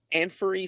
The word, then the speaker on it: Anfernee: Anfernee Simons.